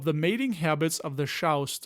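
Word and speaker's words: chrząszcz: mating habits of the shouse that's a polish may bug students if you have trouble pronouncing it rhyme it with shroused furthermore we will not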